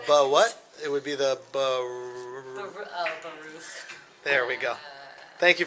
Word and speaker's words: Baruch: How would you pronounce that? Keychain No, what? It would be the Baruch.